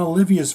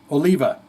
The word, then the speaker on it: Oliva: want to hear John Olivia's voice is that terrible to say someone's going to rip me because I got his I said his name wrong there Oliva I want to hear